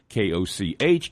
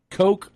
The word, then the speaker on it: Koch: K-O-C-H can be pronounced coke or koch.